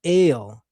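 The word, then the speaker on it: אל: And that's pronounced in Hebrew as ale. Not even L. Some people say L, but it's actually pronounced as ale. As in you go to the store and you buy ginger ale.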